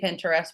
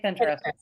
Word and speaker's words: Pinterest: do you guys say Pinterest by the way say Pinterest Pinterest Pinterest like interest but with a p Pinterest because I say